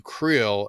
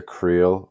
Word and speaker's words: Creel: some sort of transport to creel or probably they pronounce it crel and that's where MH